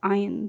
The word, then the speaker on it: iron: used in manufacturing steel is iron ion we'll pronounce it ion so the principle metal the Basic Metal which